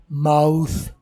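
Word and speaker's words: mouth: तो ये लफ्ज़ बनता है माउथ। गोरे इसे सही बोलते हैं, हम या माउथ बोल लेते हैं, तो जो माउथ हम बोलते हैं वो गलत है।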